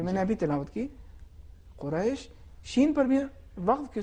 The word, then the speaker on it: قریش: اب اس میں دیکھیے اگر ہم اس طریقے سے تلفظ کرتے ہیں قریش تو یہ عربی تلفظ نہیں ہے، اور جو زبر تھا حرف را پر وہ خراب ہو گیا. تو صحیح تلفظ اس طریقے سے ہے لإیلاف قریش، بالکل آرامی کے ساتھ.